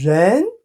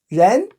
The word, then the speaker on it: 人: It's pronounced as Ren. Second term. In the course, we're going to dissect it for you how to differentiate, have a clear idea about the pronunciation, tone production. Okay? Ren.